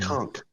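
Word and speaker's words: Cunk: big fan of dry Kunk see in K Kunk on Earth not KK but C NK often mispronounced no it's no there's not a t in there it's a k all right coach you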